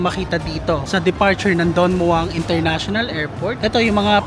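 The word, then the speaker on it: Don Mueang: Don Muang daw ang pagkaka-pronounce niyan eh.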